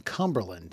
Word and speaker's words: Cumberland: reading has taken place in Cumberland is his next stop emphasis on the first three letters of that town name and I did have